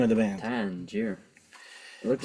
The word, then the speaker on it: Tangier: Tangier.